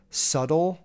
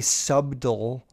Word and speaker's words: subtle: __ ] subtle flex subtle is that how you say that word so like I know it's spelled su b t le but you don't say sub dull anyways it's just a